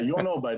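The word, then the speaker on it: Jon Åberg: Yeah, Jon Aberg, that's how it is pronounced in Swedish.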